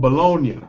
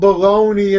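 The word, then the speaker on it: Bologna: if you go there it's called bolognia it's called baloney in America but it's actually bolognia and think about it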